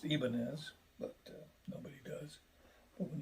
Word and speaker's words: Ibanez: So Ibanez, which should actually be pronounced Ibanez, but nobody does.